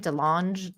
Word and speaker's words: DeLonge: DeLonge.